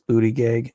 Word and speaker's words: Buttigieg: Mayor Buttigieg, it's Buttigieg, I wish he would just pronounce it correctly, is trying to play himself off as the moderate candidate.